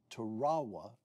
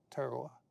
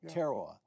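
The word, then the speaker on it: Tarawa: In November of 1943, the battle of Terawa. Did I pronounce that correctly? Terowa. Teroa.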